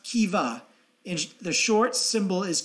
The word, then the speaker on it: Keva: Kiva is an abbreviated abbreviated for key value pronounced Kiva in the short symbol is KVA it is